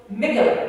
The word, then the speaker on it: Michalik: Your next speaker on October 9th is Claudia Marrero Michalik. Oh, God, darn, I said it. How do I say her name? Michalik. Yeah, they helped me with that.